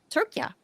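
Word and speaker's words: Türkiye: we call it Turkey um but they've always pronounced it turkia so ah here we go okay so why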